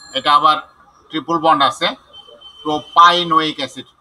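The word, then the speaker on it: propynoic acid: 1 2 3, এটা আবার triple bond আছে, প্রোপাইনোইক অ্যাসিড। পিআই পাই উচ্চারণ করব, প্রোপাইনোইক অ্যাসিড। প্রোপিনা, প্রোপি উচ্চারণ করব না, প্রোপি উচ্চারণ হতো যদি পিই হতো ডাবল বন্ডের ক্ষেত্রে। এখানে ট্রিপল বন্ড আছে, এই জন্য প্রোপাইনোইক অ্যাসিড।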